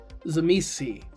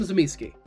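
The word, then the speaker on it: Tzimisce: I call them Zamiski. It's how I heard it.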